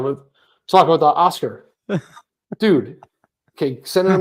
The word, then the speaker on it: Oskar: It's actually Oskar. Oscar. Stressed on the first syllable again.